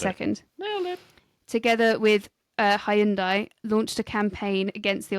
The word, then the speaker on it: Hyundai: It's Hyundai, actually. Because then you watch American adverts, it's still Hyundai, but then apparently for the UK, it's like, oh, no, you're saying it wrong. No, it's Hyundai.